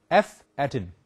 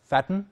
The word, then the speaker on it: F atten: F atten, we can pronounce it as fatten, but it is actually F atten for factor of attenuation, equals 1 over Kc plus KLD plus KQD square.